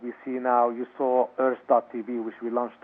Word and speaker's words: Urth.tv: And then Rowan, your wife, is it Rowan, or you and Rowan created Earth TV, URTH.TV?